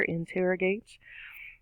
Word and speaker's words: interrogate: interrogation going down interrogate is four syllables in tear a gate again stress on the second syllable schwa that uh sound and the third syllable spot in tear a gate we have a long a sound gate there interrogates and interrogate is